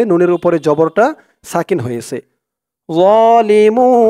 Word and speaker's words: ظالمون: উচ্চারণও তেমন নরম হবে অনেকে বলে জোয়া জোয়া বললে কিন্তু উচ্চারণটা ভুল হয় বলতে হবে একদম নরম হবে যালিমুন মুন এখানে 3 আলিফ টান